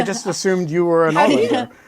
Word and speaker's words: Ålander: Yeah, it's the circle kind of like hints at it being actually an O. That's the Swedish O. So yeah, okay. Because the Swedes pronounce the O in a weird way.